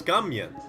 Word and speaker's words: Scummian: Scummian. Like onion.